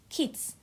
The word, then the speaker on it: Keytes: Keats. Sounds like the poet, except it's spelt Keytes.